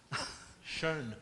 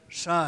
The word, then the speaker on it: Schön: O Schön, e acabei de ser corrigido na pronúncia. Schön. Schön.